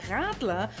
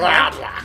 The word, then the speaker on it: Radler: Radler. Yeah. So if you say Radler, that's a really horrible way of saying a German word.